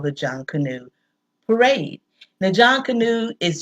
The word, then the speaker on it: Junkanoo: day is called the Jun canoe parade now John Cano is just like the man's name j o h n John Cano and you pronounce John Cano you pronounce it all together and folklore says that